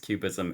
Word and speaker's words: QBism: Um, but it's it's capital Q, capital B ISM, pronounced cubism, and it has to be capital B.